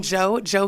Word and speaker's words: Jeaux: Well, I am Jo. Please follow me on all social media platforms. Jo is Creole, guys, so it is spelled Jeaux.